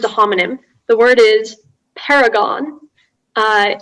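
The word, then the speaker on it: perigon: your word is a homonym the word is paragon uh it's a noun meaning an angle obtained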